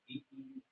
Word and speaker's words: Decatur: asking, how do you produce the pronunciation for DECATUR?